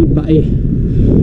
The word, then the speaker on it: Bay: bayan na to ah yung spelling nga niya ay bay pero ang pronunciation dito sa Laguna ng bayan na to ay Bae so medyo Nabago na